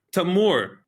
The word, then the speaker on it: Tamoor: Tamoor, right? Yes. Did I pronounce that right?